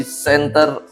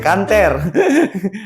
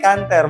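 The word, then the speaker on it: Canter: mengantu sebuah bertipe Mitsubishi Center menghantam di tengah dong kanter bacanya kanter bukan center Piso dong kater pertukaran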